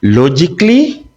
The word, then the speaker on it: logically: The letter A is silent in the following words. We say logically, not logically. We say chemically, okay? We say physically. The A is completely silent.